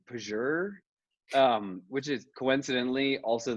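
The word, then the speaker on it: Pjur: maybe you guys have seen it spelled p j u r i think so uh i think it's pronounced like pager um which is coincidentally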